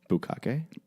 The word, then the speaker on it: bukkake: Bukkake? A bukkake? Well, I mean, I'm pronouncing it like the people who created it would.